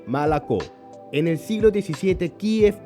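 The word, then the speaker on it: молоко: Por ejemplo, leche ya no se dice molocó, sino malacó.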